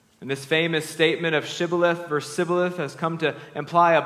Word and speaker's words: shibboleth: no they told him please say shibboleth if he said sybilif because he could not pronounce it correctly They seized him and